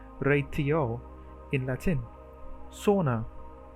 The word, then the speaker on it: sauna: Sauna, the Finnish o is like owl.